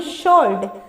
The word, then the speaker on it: sword: आगे 8 नंबर हम लोग देखते हैं, SWORD, शोल्ड। कैसे, इसमें साइलेंट W है और इसका जो हम लोग प्रोनाउंसिएशन करते हैं वो क्या है, शोल्ड।